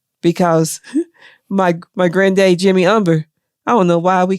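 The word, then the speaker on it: Humber: the original name that h-u-m-b-e-r umber um but it's pronounced umber as if there's no h right the h is silent right so and your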